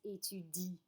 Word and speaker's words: étudient: So I have j'étudie, tu étudies, il, elle étudie, nous étudions, vous étudiez, il, elles étudient. ENT is silent.